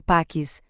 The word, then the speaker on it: Pacismo: Pacismo, pronunciado como Paquis, é a ideologia centrada no personagem Pac-Man, criado em 1980 pela desenvolvedora japonesa Namco.